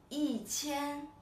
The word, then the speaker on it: 一千: Number yi, but I didn't pronounce it like I wrote here first tone, right? I pronounce this 一百, this 一千, and this 一万. So here, actually, the pronunciation has changed, right? The tone has changed.